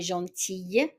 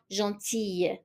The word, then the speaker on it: gentille: So even the L, we pronounce it as a Y, gentille. So masculine, gentil, female, gentille.